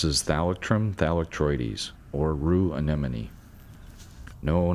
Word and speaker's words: anemone: easier to say than anemone I have trouble pronouncing it it's anemone not an enemy the scientific name thalic